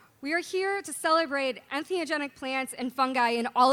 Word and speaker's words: entheogenic: So he broke it down. En meaning in, theo meaning God or having to do with God, and gen meaning to create.